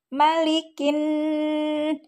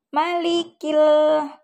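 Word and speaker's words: مَلِكِ النَّاسِ: tajwidnya adalah Lam Syamsiah lamnya tidak terbaca malikin bukan malikil tetapi malikin kemudian setelah lam syamsiah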